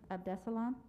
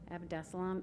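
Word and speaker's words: Abdessalam: you mrs shaneyfelt next we have of dessalam did i say it correctly great thank you it's a tough one good evening my name is of dessalam abdeslam a-b-d e-s-s-a-l-a-m and i live at 105 north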